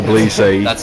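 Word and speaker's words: Tbilisi: Georgia right departure day to bleezy out into the field video blog to Blissey I said it wrong and I'm being corrected to police say that's wolf that's why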